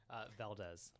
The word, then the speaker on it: Valdez: Alex, how do you pronounce your last name? Valdez. Valdez. How would you like us to pronounce it? Same way? Yeah, Valdez is fine.